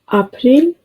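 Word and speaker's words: April: English में ए और German में इसे आ प्रोनाउंस करते हैं।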